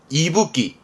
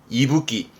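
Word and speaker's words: 息吹: 뒤에 거는 후쿠였으니까 이때 발음은 이붓기, 이끼에서 이가 나와 이붓기입니다. 이붓기.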